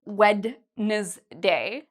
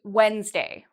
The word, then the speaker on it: Wednesday: Okay, for days of the week, we don't say Wednesday. We say Wednesday. So it's actually two syllables.